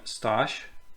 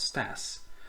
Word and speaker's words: Staś: One thing only he could not accomplish, that she should pronounce his name Staś and not Stas.